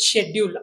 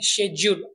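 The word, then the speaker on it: schedule: पहिला शब्द आहे शेड्यूल याचा उच्चार आपण बरेच वेळेस शेड्यूल असा ऐकतो पण यामध्ये सी हे लेटर सायलेंट असल्यामुळे याचा उच्चार आपण शेड्यूल असा करतो शेडल म्हणजेच वेळापत्रक नेक्स्ट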